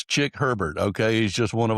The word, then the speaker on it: Chick Herbert: Please welcome executive coach, author, community leader, Sheikh Heber. That's really not how you pronounce his name, but that's how he's been introduced in the past. So I couldn't resist. It's Chick Herbert, okay?